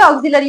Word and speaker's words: auxiliary: ऑक्सिलरी बार ऑिल ऑिलियरी ऑिलियरी उच्चारण ऐसा ही करते हैं ऑक्सिलरी वर्ब ठीक है ऑिलरी लियारी इतना गहराई से